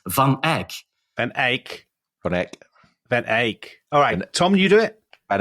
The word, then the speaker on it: Van Eyck: You say Van Eyck, but he's Van Eyck.